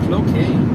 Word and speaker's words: Cloquet: Pronounced Cloquet. CLOQUET.